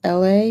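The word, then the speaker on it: Elhae: Like there's an Atlanta artist, his name is LA, and it's spelled E L H A E.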